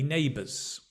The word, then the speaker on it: neighbour: We can say, I don't have many neighbours. I don't know many of my neighbours. Interesting, even in British English, we pronounce the R if it links with a vowel, right?